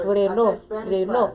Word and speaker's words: reloj: say the word watch, he teaches her how to roll her R's. Like reloj. So if you could say like reloj. What did you say? What was the word? Reloj.